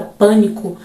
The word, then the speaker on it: Pânico: a palavra Pânico Pânico na palavra Pânico no na primeira sílaba pão é quando damos maior